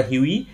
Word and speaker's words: Hughie: এখানে H Yuji H আই এটাকে আমরা হিউই বলে উচ্চারণ করব।